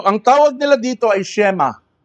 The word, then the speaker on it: Shema: So ang tawag nila dito ay shema. Everybody say shema. S h e m a. Shema.